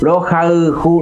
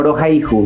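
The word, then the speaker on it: Rohayhu: Y Eraihu es Rauju, a la pronunciación del guaraní, Rauju. Rojauju, no Rojaihu, no Rojauju.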